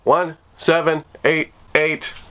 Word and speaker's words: 1788-L: like 1788, or as he says people should pronounce it, 1788.